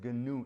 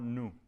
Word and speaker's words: GNU: This is gnome because because the gnu that is gnu it's not new. It's gnu.